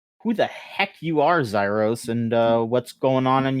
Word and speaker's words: Xyros: Of course, and joining us this time is please tell me if I mispronounce this. This is just Xyros.